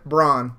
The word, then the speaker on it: Bronn: Bronn. No. Did I say that wrong? Yeah, Bronn.